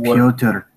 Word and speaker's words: Pyotr: Provided by Galina Petrona Smolskaya, has been entered into fact as the proof of sabotage by Pyotr and his family against Sovkus. It's pronounced Pyotr.